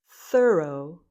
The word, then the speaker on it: thorough: Thorough. Thorough. It rhymes with thorough.